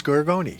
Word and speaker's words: Gargoni: up with two types of pronunciations, and the right one is Gargoni.